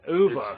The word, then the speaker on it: Uwe: Uwe. It's German, but it's Uweboll.